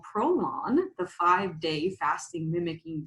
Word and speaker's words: Prolon: what brought me here today so what is prolon so prolon is and it's lon everybody it's not something you put on your l-a-w-n correct it's spelled p-r-o-l-o-n and what it is stands for